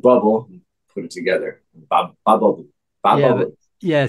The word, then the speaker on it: BabBubble: Bab bubble. Yeah, but, yeah. So when we pronounce it, it's bab, not babe. It's bab. Bubble. Yeah. Bab bubble. In babe bubble.